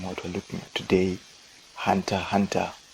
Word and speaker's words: Hunter x Hunter: we're looking at today hunter hunter aka hunter alexander no idea why the x is silent but alexander then the